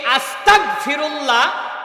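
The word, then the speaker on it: أستغفر الله: এই আস্তাগফিরুল্লাহ। আপনি যদি উচ্চারণ করতে যান তাহলে আরবি দিয়ে যদি বানান করেন তাহলে হামজা সিন জবর আস তাইন জবর তাস তাগ। ফিরুল্লাহ আপনি যদি বাংলা দিয়ে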